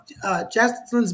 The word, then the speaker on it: Jacqueline: And while we're waiting for Karina to do that, Jacqueline's been here since the beginning.